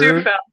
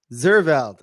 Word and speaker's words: Zuurveld: Um, Here, I forgot to ask, your name is pronounced Simone Z- Zur Zuurveld. Zurveld.